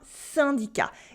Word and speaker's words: syndicat: In un syndicat, a labor union in French, un syndicat, it makes a nasal sound un, just like I plus N before a consonant, un.